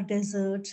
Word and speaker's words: dessert: is yes dessert dessert there is a subtle difference between these two words in terms of pronunciation meanings are completely different this is about desert